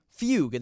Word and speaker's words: fugue: Fugue. That is how you say it.